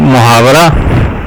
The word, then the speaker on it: محاورہ: دوسرا حصہ ہے جی محاورہ۔ محاورہ عربی زبان کا لفظ ہے جس کا صحیح تلفظ محاورہ ہے اور مفاعلہ کے وزن پر ہے۔ یہ عربی زبان میں